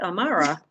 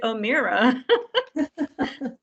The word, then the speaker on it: Amara: You're actually saying it correctly, Amara. Most people say it Omira, which my father-in-law will roll over in his grave.